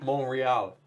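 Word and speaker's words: Montréal: Montreal. Is somebody corrected me in the Montreal? He said there's no T. He said the T is silent.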